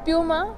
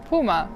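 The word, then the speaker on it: Puma: सो how would you से BMW BMW Audi Audi Nivea Nivea DHL DHL Adidas Adidas प्यूमा प्यूमा so different said to me it seems so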